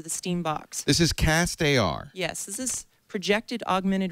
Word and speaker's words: castAR: Now, people who contribute to the Kickstarter project, will they get a pair of castAR glasses? Am I saying it right? Is it castAR or castAR? CastAR.